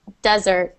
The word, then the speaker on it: desert: Yeah, so we pronounce the second as if it was the last meal of the day, so dessert. and the first as desert.